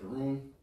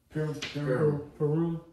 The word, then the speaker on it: Purim: And then you also got, how you say it, Purim? Purim. Yeah, Purim, and you got Hanukkah too as well.